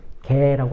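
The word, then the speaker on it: γῆ: 이 땅을 헬라어 원문으로 개라고 합니다. 개. 그냥 멍멍이 개라는 그 발음보다는 그 땅에 기어다니는 개라는 그런 발음이에요.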